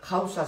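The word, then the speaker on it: Hausa: YouTube Buscar jausa cote jausa se escribe con h h a U S a cote que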